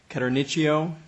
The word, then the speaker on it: Caternicchio: All the way to my right, your left, is Maria Jean Caternicchio, like Pinocchio, is how I was told to pronounce it.